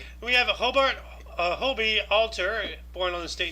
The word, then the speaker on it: Hobie: okay that makes sense it's actually Hobie Hobie okay yeah that's the manufacturer's name yeah it's a Hobie